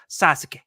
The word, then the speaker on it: Sasuke: Like when like the name, there's the name Sasuke is how it's spelled, but they always they swallow that U. It's always Sasuke.